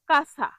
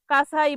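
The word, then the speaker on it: casa: এটার সঠিক সঠিক উচ্চারণ হবে বেরে। বেরে বের নয় বেরে পরের শব্দটি হলো কাছা কাছা মানে বাড়ি সি এস এ কাছা কাছা মানে বাড়ি ভুল উচ্চারণ কাছাই বলে ঠিক হল কাছা পরের শব্দটি হল মাক্কিনা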